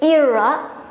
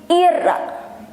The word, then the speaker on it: Ira: But the R, it has to be stronger because foreigner always call my name with Ira. It should be Ira, Ira, R.